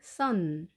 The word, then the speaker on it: son: 아들은 son, son. 태양과 발음이 똑같습니다. 스펠링은 다르지만 발음이 같습니다.